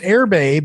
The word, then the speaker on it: Erbe: the way you spell this now is it's pronounced airbay but it's spelled e e-r-b-e-w e a t